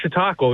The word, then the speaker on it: Chautauqua: Well, first of all, I love your energy in saying the word Chautauqua.